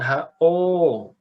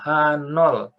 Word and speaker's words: H0: Jadi kalau lihat ini, bacanya jangan HO. Ya, ingat-ingat nih sampai nanti skripsi. Jangan baca ini sebagai HO. Bacanya apa? H0.